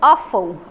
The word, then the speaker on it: awful: Esse adjetivo aqui, awful, olha a pronúncia dele, é bem diferente, mas acontece muito em inglês mesmo. Então, awful, awful, awful, horrível, terrível.